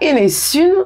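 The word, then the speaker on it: Enez Sun: L'île de Sein, qu'on prononcera Enesun sur l'île de Sein, semble aussi avoir plusieurs hypothèses quant à sa signification.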